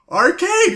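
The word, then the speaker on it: Archaide: Oh! Holy shit! That's how you say it! Arcade!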